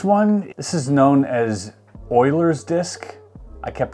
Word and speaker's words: Euler: know this next one this is known as Euler's disk I kept pronouncing it Euler's disk in one of my shorts and a